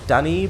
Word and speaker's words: Dunn: Is Dunny probably Dundee? But Dundee is in Scotland, isn't it? It's pronounced Dunn.